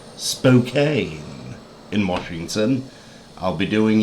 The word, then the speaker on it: Spokane: taking it over to uh i believe it's pronounced spokane in washington i'll be doing it in this